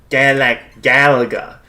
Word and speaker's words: Galaga: Actually, it's pronounced... Galaga.